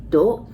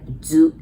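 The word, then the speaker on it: づ: And then third one as well, if you would want to pronounce D, U, do, but you really pronounce like zu, Z-U, okay?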